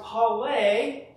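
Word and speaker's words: πάλη: It's a Greek word that is pronounced pale, and it literally meant the sport of wrestling.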